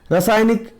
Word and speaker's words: रासायनिक: रासायनिक मतलब बोलने में कम लगे, वो मतलब छोटी मात्रा लगेगा वहाँ पर, लेकिन रासा मतलब बड़ा, बड़ी, बड़ा मतलब आ का मात्रा लग रहा है उसमें, इसलिए बोल सकते हैं कि रासायनिक, है ना।